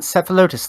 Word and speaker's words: Cephalotus: It's Cephalotus Fey. As in Cephalotus, like the plant.